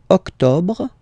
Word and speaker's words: octobre: Don't insist on the final e. Octobre, octobre, octobre.